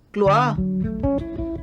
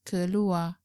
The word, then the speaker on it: keluar: Realize that the elder brother used keluar without pronouncing R of the word keluar, which is keluar.